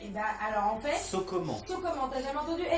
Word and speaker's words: socoman: So comment? C'est Ah oui. so comment? Genre, on fait quoi, tu vois? Ok. Comment ça se passe? Sauf que ça s'écrit S-O-C-O-M-A-N. C'est comment?